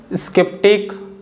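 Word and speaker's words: sceptic: कि स्केप्टिक scar scam इन तीनों words में जो लेटर सी है ना यस के तुरंत बाद तो आ रहा है लेकिन फिर भी हम लेटर सी को बोल रहे हैं और सी कौन सा आवाज बना रहा है क आवाज बना रहा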